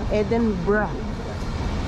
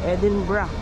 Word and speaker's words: Edinburgh: picture t scot town edinburg oh Ed It's pronounced ano Edinburgh daw Edinburgh o kamo Hindi ako makapaniwala na nasa Scotland